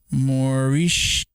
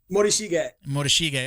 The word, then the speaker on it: Morishige: That is Orion Morishig. You know who he is? Okay, good. How do you say his name? Ryan what? Morishige. Okay, good. Because I butchered it.